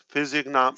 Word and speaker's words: physiognomy: Physiognomy. It's pronounced physiognomy.